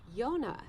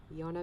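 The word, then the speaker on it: יונה: to say dove in hebrew he's not answering yonah yonah means dub oh he's waving we do have a yonah here well okay it's getting dark and we're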